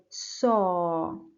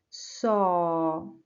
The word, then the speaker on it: saw: mouth opens completely but when I want to pronounce saw my chin drops down and the sides of my mouth move in they come closer to each other so I say saw saw you need to practice